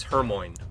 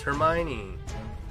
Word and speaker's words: Hermione: Like you know how some words you learned how to pronounce because you read them first like Hermione was always Hermmon to everyone right the movies come out you're like oh it's Hermione like we're American we didn't know what's another